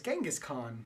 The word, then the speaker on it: Genghis Khan: Now, Chinggis Khaan, we know him as Genghis Khan.